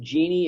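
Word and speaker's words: Gini: genie coefficient it's pronounced genie it's a italian pronunciation from the name of the fellow who developed the statistic and the way this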